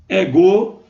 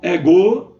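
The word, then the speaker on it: ἐγώ: Então, por exemplo, ego, não é ego, é ego, ok? Lembrando que o espírito está aqui antes do epsilon maiúsculo e não é pronunciado, ok, gente? Porque é o espírito brando.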